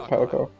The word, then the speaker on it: Palico: Palico. Palico. That's how you pronounce it, Palico.